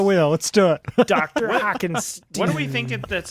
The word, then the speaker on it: Hackenstein: Pronounced Hackenstein.